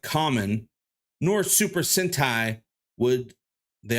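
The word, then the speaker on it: Kamen: man nor is it common riter or Cayman riter I don't know I'm not that deep into the the universe pronoun oh right here pronounced like common nor super centai would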